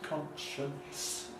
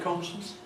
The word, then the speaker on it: conscience: Try saying it with them all present, conscience, conscience, conscience, and then try saying it with none of them there, conscience, conscience, conscience, conscience. And I have to say that my everyday pronunciation is with none of them there, conscious.